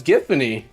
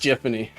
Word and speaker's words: Giffany: thought her name was giffany I thought her name was giffany uh no it's pronounced jiffany I forget what it's